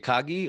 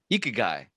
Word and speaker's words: Ikigai: How do you say it? Ikagi or Ikigai? Ikigai.